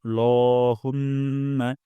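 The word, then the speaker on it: اللَّهُمَّ: আমরা এখানে লা উচ্চারণ করব না, ল উচ্চারণ করব। নাকাল্ল, ল, লহুম্মা।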